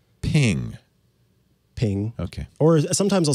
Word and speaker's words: PNG: creator of the format has how do you pronounce ping ping okay or sometimes i'll say png honestly oh see but i don't know i